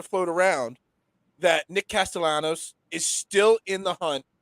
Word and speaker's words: Castellanos: Castellanos. Castellanos.